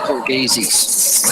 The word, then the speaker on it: Borghese: Only for Borghese. It's pronounced Borghese.